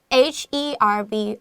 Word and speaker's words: herb: 混合，我们又可以用 mix mix 那当然这边用 ing，所以我们就直接加上 ing 就可以了。最后呢 herb herb 这个字其实是药草的意思。那老师刚刚有讲，依据地区不一样，有可能你这个 h 发音或不发音，大家都是可以理解的。